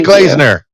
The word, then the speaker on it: Glazener: Emily Glazener. Did I pronounce that correctly?